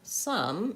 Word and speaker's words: some: So the word some, even though it's spelled with an O, has the vowel schwa.